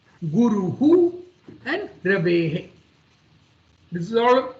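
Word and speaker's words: गुरुः: So Guru, it is not Guruha, it is Guruhu.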